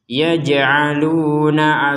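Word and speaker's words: يَجْعَلُونَ: Wabarqui yaj'aluna asabi'ahum. Nah, ini yaj'aluna asabi'ahum, kita jimnya ini ada pentalan, yaj seperti itu. Bukan sekedar yaj.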